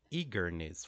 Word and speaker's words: eagerness: So in the word eagerness, for example, the first syllable is the stress E, eagerness, eagerness. Can you repeat with me? Eagerness, right? So we have one strong syllable followed by two lighter syllables, eagerness, right?